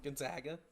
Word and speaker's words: Gonzaga: I've been told it's Gonzaga, even though I say everything typically like Zag, and then I try to say it correctly for once in my life and say Zog, and I think it's actually Zag.